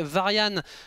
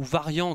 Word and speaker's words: Varian: Mais Varian, ou Varian comme vous préférez au niveau de la prononciation, a été porté disparu.